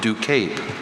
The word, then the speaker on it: ducape: red carpet look with an elegant hood of ducape. The alternate pronunciation should help him with the first syllable, but he might be thinking of other possibilities on the back end.